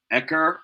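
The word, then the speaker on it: Eker: is k i'm sorry e-k-e-r echo i believe is how you pronounce his last name harvey ecker t harvey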